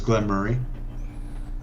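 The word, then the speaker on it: Glen Moray: something i forgot before i've been told the proper pronunciation is glenn murray uh and i've also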